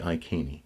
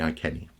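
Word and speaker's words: Iceni: you want to but the cut is important so I think it's Boudicca and the I kini or the I Kenny now mmm things did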